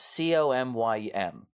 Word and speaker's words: Comyn: the House of Comyn, who are not spelled like that. It's Comyn.